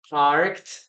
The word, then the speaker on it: parked: Okay, so we have here parked, letter T, parked, parked, parked. Okay, so the pronunciation would be something like this. Okay, parked, parked, parked. Okay, that's in this case the pronunciation, parked.